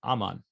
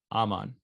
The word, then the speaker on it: Aman: longer all right so in words of two syllables the stress falls in practically all cases on the first syllable so i'm on it would be aman right aman in longer words it